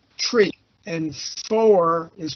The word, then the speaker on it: three: pronunciation is one notice three is pronounced tree and four is pronounced